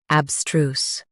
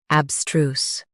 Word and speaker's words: abstruse: Today, we will learn how to pronounce the word shown on the screen. abstruse Both US and UK have the same pronunciation of this word. abstruse Now read the syllables shown on the screen naturally.